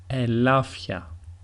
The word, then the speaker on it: ελάφια: In the second way, it is as if a small he comes into the pronunciation. So we have, for example, βαθιά, βαθιά, which means deep, ελάφια, ελάφια, which is the